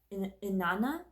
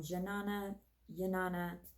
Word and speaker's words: Jnana: this questioning stage is Inanna Shakti. It's spelled with a J, but I believe it's silent. I might be wrong. Jnana Shakti is about the mind, the thoughts, wisdom, and intuition.